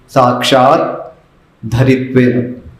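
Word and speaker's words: साक्षाद्धरित्वेन: तो साक्षात धरित्वेन समस्त शास्त्र, ऐसा ही कहना है। साक्षात धरित्वेन, साक्षात धरित्वेन, द भी है और आगे फिर धर, साक्षात धरित्वेन।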